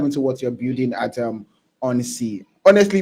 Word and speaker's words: Ghonsi: So let's dive into what you're building at on sea. Honestly, before I was pronouncing this as Gonsi, but yeah, you pronounce it properly, probably it's called on sea.